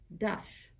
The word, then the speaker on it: dash: The second word, dash, in Ojibwe, the A always sounds like a U. So D-A-S-H in Ojibwe is dash.